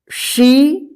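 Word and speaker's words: she: न यहां पे देखिए बी शी ही वी इसको बे से हे वे मत पढ़िए ठीक है सी देखिए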